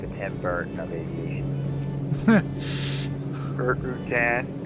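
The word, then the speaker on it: Rutan: Routan. It even rhymes with Tim Bert, doesn't it?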